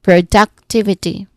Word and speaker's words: productivity: So pay attention to the stronger stress on the third syllable. Okay it might be equal but there's also if I try to think about it there's times that the duck sound you know the third syllable is a bit much um emphasized here.